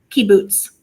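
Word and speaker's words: kibbutz: town in Israel what do we call these Caboose right say one more time for me I'll make sure I say it right Caboose K boots key boots okay key boots all right I I just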